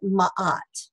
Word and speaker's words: Ma'at: Ma'at is spelled M-A, and there's a little apostrophe A-T. So it's like Mat, but Ma'at, okay?